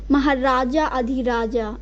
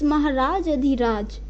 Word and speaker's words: Maharaj Adhiraj: In both words, Maharaj and Adhiraj, A is in the last, but we are not going to pronounce it as Maharaja Adhiraja. No, it's Maharaj Adhiraj.